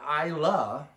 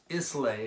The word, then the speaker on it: Islay: region of scotch the ILA are so it looks like Islay if you were to pronounce it right from the phonetic English standpoint but it's ila for